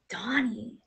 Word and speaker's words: Danie: It's pronounced Danie because I'm originally from South Africa, even though it's spelled Danie.